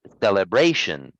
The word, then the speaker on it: deliberation: this is a noun in the noun we stress a different syllable it's deliberation okay so the stress